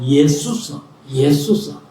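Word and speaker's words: Ἰησοῦς: 예수서.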